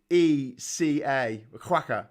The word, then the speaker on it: Cueca: No, it's spelled Cueca. Quacker. So yeah, it's not spelled like quacker like a duck.